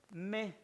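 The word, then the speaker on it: μή: Diga se escribe O y U, pero se pronuncia U. Y la otra palabra es me, así, M-E, me.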